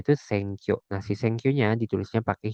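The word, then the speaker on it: 選挙: Ini cara bacanya atau furigananya ee dibacanya itu Senkyo.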